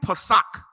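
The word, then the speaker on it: פסח: correctly translated Passover man you want to know how you say it in Hebrew Passat which means Passover read it again from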